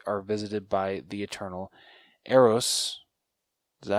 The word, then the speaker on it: Eros: macari and druid are visited by the eternal eros is that how you say his name arose yup yeah okay uh thanos's brother and his